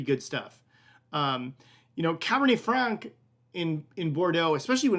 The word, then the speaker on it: Bordeaux: Thoughts or questions about the Bourdieu here? It's really Bordeaux. It's probably the way I'm supposed to pronounce that.